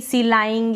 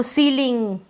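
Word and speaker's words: ceiling: अब यहां पर अगर आप बड़ी आप ऐसे पढ़ देंगे सिलाइंग या गलत पढ़ देंगे। ठीक है? तो सीलिंग कंसीड decide deceive conceive receive protein.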